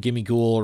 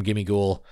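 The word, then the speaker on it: Gimmighoul: Chest form, Ghimmighoul, random, or roaming form, Ghimmighoul. Very cool. Very cool. Ghimmighoul. Ghimmighoul. No, but anyway, very, very cool hearing Professor Willow's voice. You keep saying Ghimmighoul. It's Ghimmighoul.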